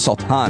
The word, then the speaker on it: Sultan: It's Sultan is how it's pronounced.